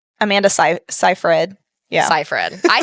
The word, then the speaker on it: Seyfried: Seyfried. Amanda Seyfried. Yeah. Seyfried. I said Seyfried. And I said Seyfried. So Yeah. and it was a combo. It was a combo. Oh, that's beautiful. Yeah, so Amanda Seyfried is going to play the wife, and I